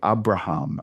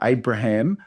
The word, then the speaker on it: Abraham: So technically, you'd say the A is a long A. Abraham. Okay, Abraham. But don't try to say it like a Jewish person, okay? You whether you pronounce the A as a short A, Abraham, just say it as I think people are familiar with it.